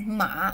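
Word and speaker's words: 马: but both of the these two characters are are pronounced as ma which means horse in China okay my friend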